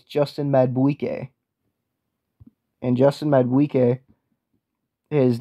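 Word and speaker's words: Madubuike: I don't even know how to pronounce that dude's name. Yeah, I do. It's Justin Madueke.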